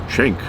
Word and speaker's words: Cenk: It's not that hard of a name, but I see uh a C and they say J. I don't know where they get the J from. Why don't you spell it with a J then if it's jank or chank?